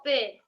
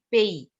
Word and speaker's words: pays: Alors, je vais à la fête avec le drapeau de mon pays. It's pays. Not only pay.